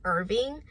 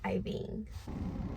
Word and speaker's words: Iving: Some people do pronounce my name wrong, and I get it all the time. Some people think that my name is Irving, and I understand why. It's very common, and there's even I think there's a city in Texas that's Irving, but my name is pronounced Iving. So please pronounce it right. Don't say Evie, don't say Ivy, don't say Irving. My name is Iving.